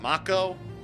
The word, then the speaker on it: Mako: It's Mako. It's Material. Yeah, there's definitely a lot of pronunciation with this game that you want to note.